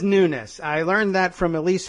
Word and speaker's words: Nunes: n Sound to Nunes but he pronounces it Nunes uh to be perfectly American he should say my name is Devon Nunes uh but he says nness I learned that from